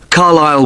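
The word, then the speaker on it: Carlisle: You don't pronounce the S. Carlile Way and that's in Lewis.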